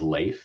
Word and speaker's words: Leif: My name is Leif, which rhymes with safe, and I'll be your